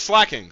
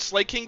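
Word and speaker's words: Slaking: Hey, Google says slacking. Let's see how to pronounce slacking. Yeah, it's slacking. So, I don't know where I heard Slake King from, but I was dead ass wrong, and I apologize, chat. I apologize. It's slacking.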